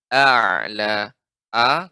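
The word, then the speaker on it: أعلى: ya, pengucapan a'la, hamzahnya harus tetap diucapkan dengan jelas. A'la, a kemudian baru dihubungkan dengan ain.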